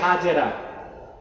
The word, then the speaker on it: হাজের: আল্লাহ নির্দেশ করলেন, ইব্রাহিম এবার তুমি তোমার স্ত্রী হাজের, যাকে আমরা বলি হাজেরা, হাদিস শরীফে তার নাম এসেছে হাজর। কি নাম? আমরা বলি শুদ্ধ উচ্চারণটা কি? হাজের।